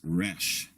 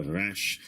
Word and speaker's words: resh: It makes a guttural sound, similar to the French air. But most English speakers have a hard time making that sound and will pronounce the resh like the English R as in robin. This is acceptable, although, should you go on to study modern Hebrew and go to Israel, making a resh sound like an R will mark you as an English speaker.